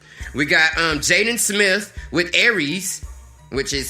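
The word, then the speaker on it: ERYS: We got Jaden Smith with Aries, which is spelled E-R-Y-S.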